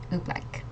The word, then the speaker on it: Oobleck: repeat after me so turn on your mics o black o black mhm black black okay looks like